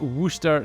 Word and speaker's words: Worcester: something for the sauce then you add some Worcester sauce or sauce if you don't say it